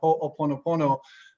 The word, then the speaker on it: Ho'oponopono: might be familiar with the Opono, I think I said it right, Oponopono. There we go.